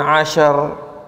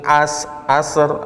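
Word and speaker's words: عشر: Walayalin ashar, kecepatan. Berikan kesempatan shin terlepas suaranya. Walayalin ashar. Ya. Huruf ain jangan sampai berubah menjadi hamzah. Jangan walayalin asr, atau sinnya bisa berubah jadi huruf sin.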